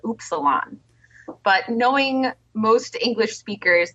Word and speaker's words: Upsilon: cool it's cool U we mispronounce it on purpose it's actually supposed to be pronounced oops Salon but knowing most English